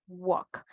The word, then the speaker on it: walk: Vamos a iniciar con la L silenciosa. Ya vimos walk. Normalmente, tal vez nosotros decíamos walk. I'm walking, ¿verdad? De caminar. Pero ahora ustedes ya saben, walk. Va la L, pero no se pronuncia.